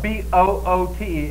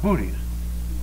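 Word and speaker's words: Boötes: name is boot say that Bo boot now that's spelled b o o t s but it's not pronounced booties it's boot now we come down to this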